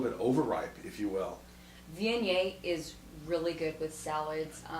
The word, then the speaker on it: Viognier: A lot of people have a hard time pronouncing Viognier. It's Viognier, and not a lot of production on this wine.